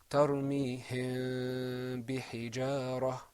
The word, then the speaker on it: ترميهم بحجارة: You're going to see that the mim hides a little bit, which is what ikhfa means. So that is pronounced tarmihim bihijara.